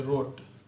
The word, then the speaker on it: wrote: यहीं पर आपका हो गया जैसे रोट, WROTE, रोट लिखना है, तो W से नहीं देखेंगे, रोट उच्चारण हमारा क्या आ रहा है, रोट, W साइलेंट हो जाता है इसमें, तो रोट